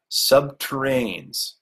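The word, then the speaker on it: subterrene: power tunneling machines called nuclear sub terrains rhymes with submarines which were designed at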